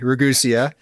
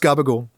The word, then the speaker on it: Ragusea: is Adam gabagool um which is spelled r-a-g-u-s-e-a regusia uh but it's pronounced garbage and uh and you